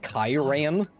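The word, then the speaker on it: cairn: this must be the Karen of the elders uh it's pronounced kairan demonic scars upon their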